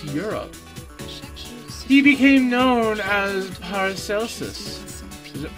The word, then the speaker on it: Paracelsus: he became known as paracelsus is it park elsa i don't think i don't think you would pronounce that with a hard c i think that would